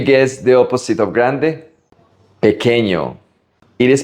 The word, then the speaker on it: pequeño: Pequeño. It is pronounced pequeño, not pequeño or piquiño.